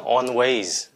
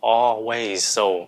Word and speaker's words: always: always always Ok nào nó không phải là onways không phải là onway nó là always Again lần nữa on